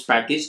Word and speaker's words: Packj: In this video, we are going to learn a very popular open source package named Packj. It's actually called Package, but it's spelled as Packj.